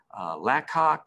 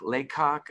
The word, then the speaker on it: Lacock: to both oxford and lacock laycock i think it can be pronounced either way i've spent way more